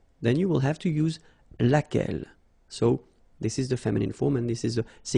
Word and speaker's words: laquelle: So basically same rule, Q-U, U is not pronounced here. And then you get this E-double-L-E, well, phonetically here, it is the same as what we have here. So laquelle.